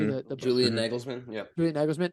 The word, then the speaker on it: Nagelsmann: the tactical battle that how how do you pronounce his name correctly? Nagelsmann. Did I say that correctly? Mhm. The Julian Nagelsmann. Yep. Julian Nagelsmann.